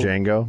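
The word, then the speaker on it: Django: so black cat named Jango Jango got Unchained because I mean the D is silent was swiped by a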